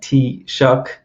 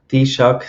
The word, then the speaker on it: Taoiseach: It's pronounced Taoiseach or Taoiseach, something like that.